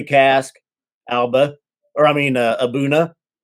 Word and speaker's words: A'bunadh: a buna that like the D in the H are silent abouna I believe I believe well when